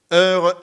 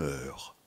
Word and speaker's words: heure: Le U dans l'heure ne s'entend pas étant noyé dans le. Heure, c'est E deux fois, au commencement puis à la fin.